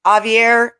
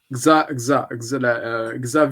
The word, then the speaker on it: Xavier: Luxembourg's prime minister, now tell me if I say his name right, Javier Bettel. Xavier Bettel, yeah. So they say the Yeah, X. you Okay, pronounce the X, yeah.